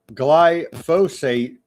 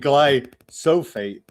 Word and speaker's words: glyphosate: Uh Bart Barto on the Rumble says uh it is glyphosate, but you keep saying glyophate.